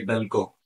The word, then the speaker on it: Belcon: भाई क्या स्पेल करते हैं आप इसका क्या प्रोनाउंस है ये जो आपका चॉकलेट बार है ये बेलको बेलको जी बेलको ओके तो ये क्या क्या